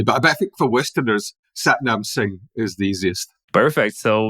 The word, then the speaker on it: Satnam Singh: So the way that I pronounce it is Satnam Singh.